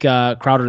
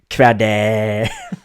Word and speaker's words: Crowder: So I really like Crowder this week.